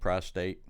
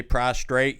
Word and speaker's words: prostate: Prostate. Okay. You know me not saying shit right. I say prostrate, you say prostate. because that's the way it's spelled and said.